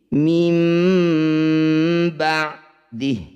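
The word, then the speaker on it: مِنْ بَعْدِهِ: Kita mengganti bunyi nun sakinah dengan bunyi mim sakinah. Jadi, segera tutup bibirmu. Mim. Jangan lupa juga untuk menambahkan efek nasal pada pengucapannya. Mim ba'dihi. Saat berhenti, huruf terakhir 'ha', yang aktif dan berbunyi seperti 'hi', menjadi 'sakin' (mati) karena kita telah berhenti. Mim ba'dihi, kalau berhenti mim ba'd, gitu.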